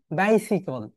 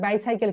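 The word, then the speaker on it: bicycle: অন my brothers, on বাইসিকল। আমরা সবার বাইসাইকেল বলি, রাইট? আব্বু আমাকে একটা বাইসাইকেল কিনে দাও, কিন্তু রাইট প্রোনাউন্সিয়েশন হবে, আমার সঙ্গে শিখে নাও, বাইসিকল। বাইসিকল, এটাকে বাইসিকল বলতে হয়।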